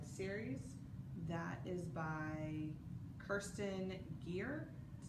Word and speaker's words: Gier: that is by Kirsten Gere Gier is how you pronounce her last name how you spell it